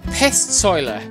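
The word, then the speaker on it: Pestsäule: shelters we come to this pest soiler which i think is the right way to pronounce it but basically it's a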